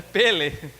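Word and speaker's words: פֶּלֶא: é que em hebraico se você achou que é o Pelé né é pele e Bragança é a pronúncia bem parecido né com Pelé né só na no som a semelhança tá bom só deixa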